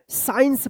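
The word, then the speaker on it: science: साइंस पढ़ेंगे। साइंस क्या होगा? साइंस पढ़ा जाएगा। साइंस साइंस यहां पे देखिए एस के बाद सी है तो क्या होगा? कि सी यहां पे साइलेंट रहेगा।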